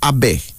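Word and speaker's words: Abay: another male name is a big a b-a-y pronounced Abe this popular male name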